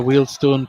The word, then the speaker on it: Wealdstone: c as someone's got nice to hear wheelstone pronounced correctly while we were we were told on the heat army podcast on uh tuesday night when we spoke to paul franklin that was the way to pronounce it got my strip